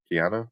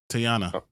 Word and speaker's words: Teyonah: How do you pronounce him? Tiana? No. Teyonah Paris? Teyonah. Teyonah, right? Teyonah Paris as Yo-Yo.